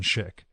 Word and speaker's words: Szyk: info about his essays, books, and presentations on Schick.